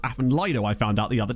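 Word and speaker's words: Afan Lido: Won that division over Aphen Leido. That was very satisfying. It's actually pronounced Aphen Lido.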